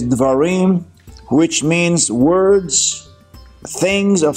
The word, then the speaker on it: Devarim: is called the varim some pronounce it as devarim we pronounce it as dwarim which means words things